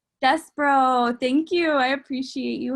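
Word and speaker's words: Despereaux: How do I pronounce it? Despero. Despero.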